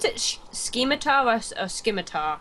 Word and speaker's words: scimitar: Do you pronounce it scimitar or scimitar? How do you pronounce it? I pronounce it scimitar. I think the C's silent. Right.